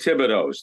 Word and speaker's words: Thibodeau: When you lived in Rumford, Maine, there were 100 Thibodeaus. That's the way you pronounced it. When I came down here, everybody kept saying Thibodeau.